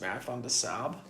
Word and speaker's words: Marathon des Sables: It's actually pronounced Marathon des Sables.